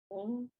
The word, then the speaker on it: Avon: The first syllable is a. avon. avon, Avon. Avon. avon. Okay, the vav is acting like a letter. The dot is its vowel. Avon.